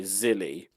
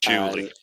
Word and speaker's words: Julie: But then isn't the spy Zilly? Julie. Julie, is that how you pronounce it? Not Zilly? Well, I would say she's just called Julie. I think Zilly is a mistranslation.